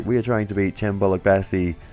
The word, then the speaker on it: Cem Bolukbasi: are trying to be chambola Bassey uh or uh foreign that is apparently the uh correct pronunciation according to Google translate I don't speak Turkish